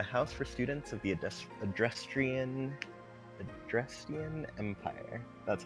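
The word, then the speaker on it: Adrestian: We've got our fire type here with Edelgard, a house for students of the Adrestrian Empire.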